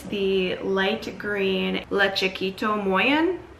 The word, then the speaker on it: Le Chiquito Moyen: Yeah, so it's the light green Le Chiquait Moyen is how you pronounce it, I believe.